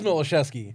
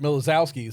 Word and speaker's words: Miloszewski: by that what is it well it is malachesky okay whatever but Walt and everyone else on Tom Steve Dave calls it milazowski so what's had it for five years no